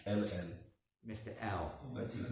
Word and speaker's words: Hell: You don't pronounce the H in French. H-E-L-L. Mr. L. That's his name. You don't pronounce H in French, so it's not Hal, it's L.